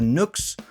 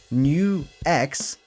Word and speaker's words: NUX: And in this video, we'll talk about the Nooks or NuX or how it's actually pronounced, New X DM 110.